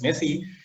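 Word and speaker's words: MESI: messy protocol in esi which is pronounced as messy and apparently cxl also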